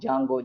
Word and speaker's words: Django: is there the jungle but the DNA silent most of the people are going to pronounce Django Jango Jango that's all not genre okay like next turn